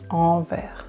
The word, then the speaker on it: Anvers: Anvers. It's the metro station you can go to if you want to go to Sacré-Cœur, for example. Sacré-Cœur. So you will stop at Anvers.